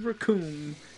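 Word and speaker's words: Recoome: The name's Raccoon, and it rhymes with Doom, and you're gonna be hunting.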